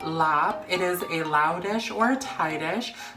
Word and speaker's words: larb: of my favorite summertime salads it is called lob it is a lauda short I - but